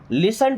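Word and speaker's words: listen: लिसन टू मी। दोस्तों यहां पे टी साइलेंट है।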